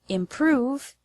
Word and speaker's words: improve: The word improve has the stress on the second syllable, prove.